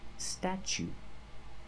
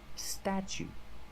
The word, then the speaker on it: statue: and change so pronation statue statue for the first vow we use the short a like black cat sta then we use the CH sound okay what else have